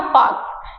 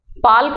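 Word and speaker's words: Palk: करके लिखा जाता है पालक नहीं है ये एल जो है वो साइलेंट रहता है ठीक है तो पालक नहीं है यह है पाक तो हम पाक की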